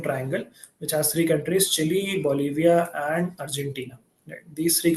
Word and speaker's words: Chile: country Chile this is not called CH it's pronounced Chile and this is a South American country uh